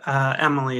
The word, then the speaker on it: Amelia: So it's pronounced Emily.